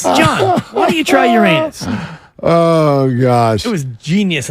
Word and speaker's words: Uranus: John, why don't you try Uranus?